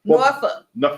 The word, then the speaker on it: Norfolk: Well, there's an L in there, but apparently you don't say that.